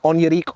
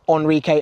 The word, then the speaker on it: Onirique: flip the board over evolve in on your leak or Enrique as I'm hearing a lot of people pronouncing it at the top the